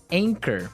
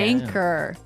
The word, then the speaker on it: anchor: Anchor. Another boat word here. Yeah. Anchor. Anchor. Anchor. Now, it's spelled A-N-C-H-O-R. Right. But you don't pronounce the CH as you normally would, right?